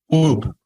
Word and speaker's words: Whoop: I actually didn't know the right way to pronounce it. Yeah, what is the right way? Whoop.